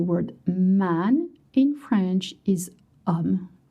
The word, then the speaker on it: homme: And I know you see H, but in French the H is silent and mute, so you don't pronounce it.